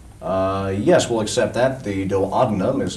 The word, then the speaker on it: duodenum: The duodenum is how it's pronounced precisely, but we'll give you that for 10 points.